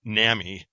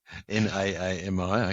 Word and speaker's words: NAAMI: up to me and explained to me the proper pronunciation of the acronym for the National Additive Manufacturing Innovation Institute, which is not NAMI. Okay. She seemed kind of outraged by that. NAAMI, okay.